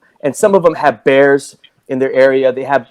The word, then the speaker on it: Bexar: Bear, is it pronounced Bear? Bear County. But it's spelled what? Bexar. No wonder I said Bexar, but it's not pronounced.